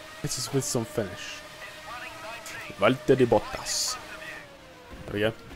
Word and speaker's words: Valtteri Bottas: I said Valtteri Bottas with a Finnish accent. I know that's slightly accurate because I asked a Finnish person whether that's how they pronounce Valtteri Bottas. And it is.